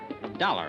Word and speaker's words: Dollar: Dollar, huh? Yeah, rhymes with collar.